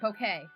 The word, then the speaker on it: bouquet: Not banquet, bouquet. The word bouquet came up. And I couldn't remember how to say it, so I said banquet because bouquet is not spelled phonetically, like, at all.